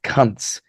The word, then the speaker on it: Kunce: Lucas Kuntz. That's correct, by the way. That is his name. Kunce. I don't know how else to pronounce that.